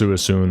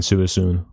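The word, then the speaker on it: Suicune: It is pronounced Suisun, I'll have you know. It's pronounced, the trio is Raikou, Entei, and Suisun.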